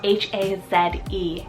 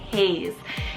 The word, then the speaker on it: Haze: another H name here we have Hayes so h-a-z-e Haze now this particular name could be spelled a